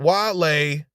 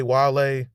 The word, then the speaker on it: Wale: He says, and the only reason I put him is because parlay and Wale rhymes. Parlay, Wale.